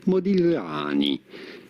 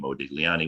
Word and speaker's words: Modigliani: You do want to stress and emphasize on the A, however, Modigliani. In Italian, Modigliani.